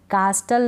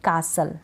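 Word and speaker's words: castle: इसको भी ब्रिस्टल नहीं ब्रिसल, कास्टल नहीं कासल। ठीक है, कास्टल नहीं पढ़ेंगे, कासल करेक्ट प्रोनाउंसिएशन, पेस्टल नहीं पैसल, ध्यान रखें आप ये।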